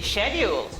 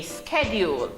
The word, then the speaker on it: schedule: Do we say schedule or schedule? Schedule. In Jamaica, we say schedule. But in America, they say what? Schedule. Right, in America, they say schedule.